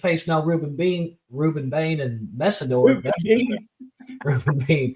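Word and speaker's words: Mesidor: Messidor, maybe Masorder. I don't know how to say his last name. 2 pass rushers. I got you. It's Messidor.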